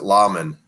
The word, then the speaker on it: Lahman: or something wha Lahman that's how you pronounce it lawmen I appreciated that you